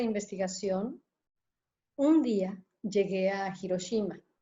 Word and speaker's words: Hiroshima: un día llegué a hiroshimas o hiroshima como lo pronunciamos en nuestra lengua justamente llegue llegamos éramos